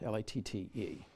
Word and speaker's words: Latte: the monastery of Lot, L-A-T-T-E, Latte, but I think it's pronounced Lot.